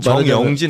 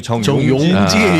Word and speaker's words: 정용진: 주 정영진 아니고 정용진 발음 좀 제발 좀 조심 좀 회장 되니까 좋잖아요.